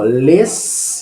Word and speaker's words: les: E o que a gente escreve aqui, ó, les, mas não pronuncia les, só pronuncia le.